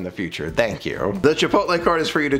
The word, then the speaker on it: Chipotle: thank you so much am i saying it right by the way chipotle i've been told that that's the way to say it not i used to say it chipotle apparently that's not how you okay chipotle okay next